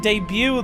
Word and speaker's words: debut: It's so weird because in debut, the T is silent.